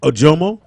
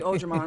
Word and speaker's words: Ojomoh: Ojomo? That's it, right? Yes. Ojomo. Yeah. See? Look. I Ojomo, can yeah. say I know. shit. I always say Ojamon, which I don't know why.